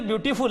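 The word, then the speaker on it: beautiful: और ये बच्चों फूल हम फूल बोलते जरूर हैं लेकिन फूल होता नहीं है। एक्चुअली इसका सही उच्चारण होता है फल।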